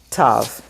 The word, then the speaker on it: Tav: But today we just say t, Tav, like in Shabbat.